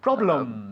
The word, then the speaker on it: problems: Yeah, we don't pronounce the E in problems. I The know. problem. Ah, problem. problem. Así. Wow. Okay, dilo otra vez. Problem. Problems.